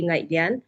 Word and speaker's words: Ngaihlian: So thank you so much sir first of all and yes uh my name is Naan. So we pronounce it naan and I come from